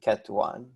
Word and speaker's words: ket: we refer to so the way we pronounce this is cat 0 and ket1 okay and so the general